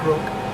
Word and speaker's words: Grk: I pronounce GR or how you pronounce grook rather and what I say to them is grook rhymes with brook or crook or even book so the grp books